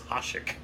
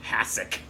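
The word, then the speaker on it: Hašek: You called him Hasek. It's Hasek. Well, I went with the Canadian version. You went with the American version, Hasek.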